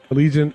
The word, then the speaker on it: Allegiant: ticket sales what's that think of the airplane allegiant airline allegiance okay gotcha but because